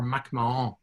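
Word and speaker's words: MacMahon: was the niece of Patrice McMahon or Mac Mahon as they were pronounced the first president of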